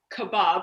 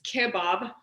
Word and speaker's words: kebab: kebab berenji which um not to be pronounced kebab it's kebab uh is in the